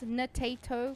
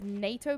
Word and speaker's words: Natato: So it's Natato Potato, but everyone reads it as NATO Potato, and I just die a little bit inside every time they read it wrong.